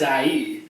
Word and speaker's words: Ai: It's IE. I'm literally going to call it AI this whole time.